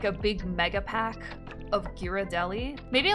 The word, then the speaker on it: Ghirardelli: big mega pack of ghirardelli maybe like a sampler am i saying that wrong irideli is it irritating no there's no way the g is silent hell no i'm back